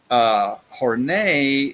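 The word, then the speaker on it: Horney: and neurotic things so horn a horn a it just sounds sophisticated to to say her name that way right but it is how you pronounce it horn a is what we call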